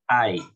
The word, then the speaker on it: I: emplearlo algunos todavía me dicen y no es ay ay entonces apreciado tengan en cuenta la pronunciación obviamente se aproximen a la correcta pronunciación